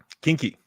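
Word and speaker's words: quinqui: Recommend I don't know how to pronounce that. Kinky.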